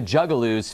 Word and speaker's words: Juggalo: For all of you normal people out there, a Juggaloo is the name given to fans, groupies, and general weirdos that love these rapping clowns. Am I mispronouncing it? Yeah. Juggalos? Juggalo.